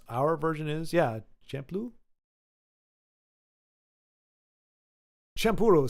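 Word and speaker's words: Champloo: oh and I think it's not pronounced shampoo it's champuru champuru Samurai champuru which sounds a lot more than champoo or champo oh no okay that's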